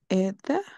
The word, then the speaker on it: aider: AI siempre va a ser E. ¿Qué significa, qué significa ED? Aider, ayudar. Ella. Aider. Uy, lo voy a poner aquí. Ah, Se pronuncia así. Por eso cada vez que haya AI, esa combinación de letras AI va a ser E. Ok, siempre, siempre.